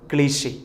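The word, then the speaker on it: cliché: നമ്മളത് വായിക്കുമ്പോൾ ക്ലീച്ച എന്നൊക്കെ വായിക്കും. കൃത്യമായ ഉച്ചാരണം ക്ലീഷെ. എന്താണ്? ക്ലീഷെ.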